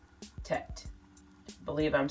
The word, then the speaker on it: Tet: And so I went researching, and I came to the conclusion that there's a Hebrew symbol that represents 9, and it's called Tet. Tet.